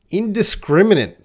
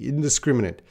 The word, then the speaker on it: indiscriminate: Indiscriminate. Indiscriminate. Which is there's no silent letter except that E. Indiscriminate.